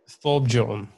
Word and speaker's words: Thorbjørn: Thorbjørn Olesen. How do you pronounce that again? Thorbjørn.